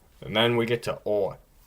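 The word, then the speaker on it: О: And then we get to O. Now, it looks like an O, and it pretty much is. However, it only has the sound of O when it's in a stressed syllable, which it's usually not.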